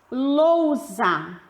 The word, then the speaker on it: lousa: Lousa. Lousa. Nesse caso, a letra U aparece com menos força.